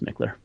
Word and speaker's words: Michler: le are so it looks like mitchler but pronounced McClure awesome but they'll find that